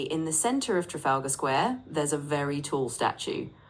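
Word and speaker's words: Trafalgar Square: It's actually pronounced Trafalga Square, but you were very close.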